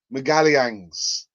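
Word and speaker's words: Magalhães: you pronounce his name that's how you say his surname megalians i've got a few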